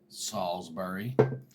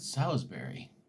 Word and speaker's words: Salisbury: town you're in and I said Salisbury like Salisbury steak it's spelled the same way and just letting this country girl she said she laughed at me and she's like it's Salisbury and I was like whoa